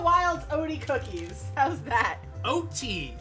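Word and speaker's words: Oaty: About Grandma Wild's Odie? Odie. Odie. Cookies! Grandma Wild's Odie cookies. How's that? O-T. Okay, you pronounced it O-D. You know, like the dog from Garfield. O-T. O-A-T-Y. O-D-I-E.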